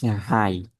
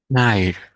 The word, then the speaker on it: hide: word Ting here is hide hide hide okay everyone remember have to be careful to pronounce the last consonant which is the D sound otherwise in English it